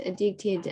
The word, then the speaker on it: addicted: Addicted. And the stress is on the second syllable, dick.